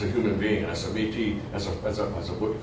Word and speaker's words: Métis: When I pronounce it in French, it's Métis. You don't pronounce the S.